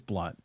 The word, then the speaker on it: Blount: And just for all the audience, my last name is pronounced Blunt, even though everybody in Canada, it's perfect. It's spelled Blount. It looks like Blount, but it's Blunt.